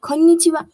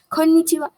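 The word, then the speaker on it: こんにちは: hello so you'll say konnichiwa konnichiwa but pay attention to this end as this has a low intonation in japanese konnichiwa do not stress a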